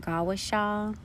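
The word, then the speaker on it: gua sha: a form of traditional Chinese medicine it's called gusa which is pronounced gaasa it involves the application of lubrication such as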